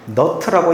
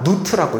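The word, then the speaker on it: Nut: 자, 이거는 너트라고 읽는게 아니라 누트라고 읽습니다. 누트.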